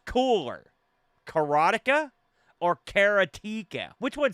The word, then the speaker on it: Karateka: Adam covered Karateka on his show for Combo Chronicles, which did a great job, by the way. But he said the official pronunciation from Mechner himself is Karateka.